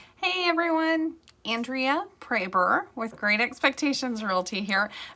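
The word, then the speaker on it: Proeber: And he pronounces it Praber. I don't know why. It's German. It's very German. He's like third generation on both sides of his family German. So I actually asked somebody in Germany how to pronounce it because it was supposed to be an umlaut. I don't know. Anyway, and they said Praber, like Schroeder, like Schroeder or Schrader, whatever.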